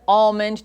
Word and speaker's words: almond: my kids speak it so it's Ammon oh absolutely amen it's the only way anybody tells you anything different they're wrong people feel very strongly